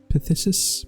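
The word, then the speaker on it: phthisis: already know that um but I assume it's pronounced like pus pthis pthis I think I'm missing that last is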